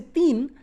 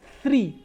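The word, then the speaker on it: तीन: But when I say teen, my tip of the tongue will not come out. You have to block with your frontal teeth. Teen, okay? Not three, see? Coming out, three, then I'm able to pronounce three well.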